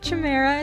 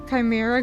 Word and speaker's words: chimera: this word so instead of how I was pronouncing it which was a Chima it's actually um it's actually supposed to be pronounced as Chimera so so thank you so much for that